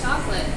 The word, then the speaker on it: chocolat: So, instead of like saying like chocolate, your c h would sound like s h, so you'd say chocolat.